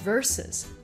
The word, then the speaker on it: versus: 会记得它的发音是 versus 两个音节，而且你